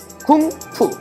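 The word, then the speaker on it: 功夫: 좀 더 세게 읽으면 쿵푸. 예. 중국은 공부를 쿵푸라고 얘기합니다. 이 쿵푸가 뭐냐? 아뵤! 이런 거. 이런 게 이제 쿵푸라고 생각을 하는데 실제로 공부는 중국 사람들은 몸과 마음을 단련하는 일이라고 생각해요.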